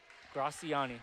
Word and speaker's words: Gracian: Gracian. Oh, man. Okay. I was told it's it's uh it sounds just like how it's spelled.